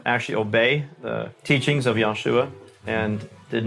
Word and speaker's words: Yahshua: And I've seen, is this correct that you spell it Y-A-H-S-H-U-A? Because a lot of Messianic people and Hebrews people will say Yeshua, and there's other forms of it. You say Yahshua. Is that? Yahshua, that's correct.